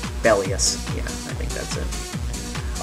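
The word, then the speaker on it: Belias: got it now actually it should be pronounced the bellus yeah I think that's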